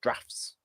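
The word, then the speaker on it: draughts: checkers checkers isn't called checkers either it's called drafts you know like draft beer how do you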